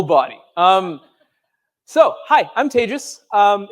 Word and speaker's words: Tejas: um so hi I'm Tejas um it's it's as I mentioned it's a pleasure to be here closing up the conference my name is pronounced like advantageous um whether or not I